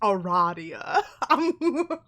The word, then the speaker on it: Aradia: why i did that it is pronounced eradia anyway aradia what are you doing